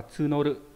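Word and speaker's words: 募る: Nó đọc là tsunoru.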